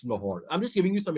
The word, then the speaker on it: Lahore: Similarly, it's not Lahore, it's Lahore.